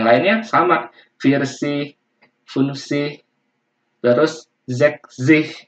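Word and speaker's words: sechzig: Yang lainnya sama, Virsi, Funsi, terus Zekzih ya, bukan seksi, tapi Zek, Zek, Zih, Zeksih, Zeksih.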